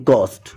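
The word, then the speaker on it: ghost: कि ये वर्ड है इसे पढ़ते हैं गस्ट अब इसमें एच कहां से आया जैसे ये वर्ड है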